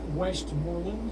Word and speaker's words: Westmoreland: Westmoreland. True. Yeah. Absolutely. Did I Right.